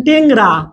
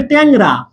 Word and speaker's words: ট্যাংরা: কিন্তু এখানে দেখেন আপনি এরকম বললেন টেংরা, আপনার এটা টেংরা না, কিন্তু এটা হবে ট্যাংরা, ট্যাংরা, এয়া উচ্চারণ হচ্ছে, ট্যাংরা, ইয়া উচ্চারণ হচ্ছে, ইয়া।